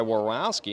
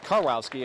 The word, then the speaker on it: Karwowski: And nicely done by Warowski, number 10. Sebi Karwowski, I should say. Pardon me on that pronunciation.